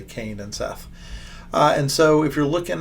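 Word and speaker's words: שת: Seth, it's funny, the S is actually an SH, and then the TH is actually a T, so it's actually Shet.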